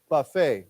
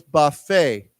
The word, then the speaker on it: buffet: course when we say Buffet right b u FF T is a CH now remember this is a French word so we don't pronounce the T right so it's Buffet okay why don't we